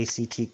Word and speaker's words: ACT: not related to the ACT college some several high school students need to take, but long here we go. Acceptance commitment therapy act typically pronounced as the word act is a form of